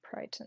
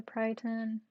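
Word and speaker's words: peryton: It's spelled P-E-R-Y-T-O-N, Pryton, I think. That's how it's said.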